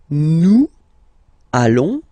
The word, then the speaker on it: nous allons: Then nous, so we, plural form, nous allons, okay, and if you, so final S not pronounced, and then if you